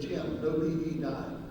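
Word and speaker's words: Gymnopédie: The way we like to say it is Jim, no PE died. It was our excuse not to take PE. So that's the way we pronounce it.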